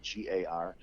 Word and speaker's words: Guigar: TikTok, you can put in my name, Guigar, as one word, and the last name is spelled just like guitar, but with a G for a T, so Guigar.